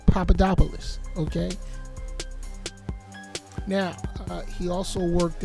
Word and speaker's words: Papadopoulos: but not least George papadopolis I don't know why everybody's having such a hard time pronouncing his name it's Papadopoulos okay now he also